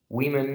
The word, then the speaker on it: women: civilizing influence to society, remember that women actually it's pronounced differently than its singular form, which would be a woman. and you have that different kind of pronunciation, women and woman.